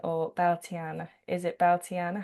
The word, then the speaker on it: Bealtaine: Um, to talk about Belaine or Beliana, is it Beliana? How do you pronounce it? Uh, we would say Balta Ba.